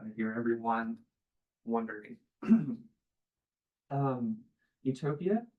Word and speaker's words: Utopia: here everyone wondering um Utopia in it's as it was originally pointed is a PL it sounds like Utopia eutopia meaning good place um but it's spelled Utopia as in no place and so while